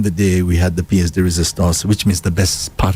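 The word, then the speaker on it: pièce de résistance: So, it's pronounced piece de resistance. So, back in the day we had the piece de resistance, which means the best part of a meal,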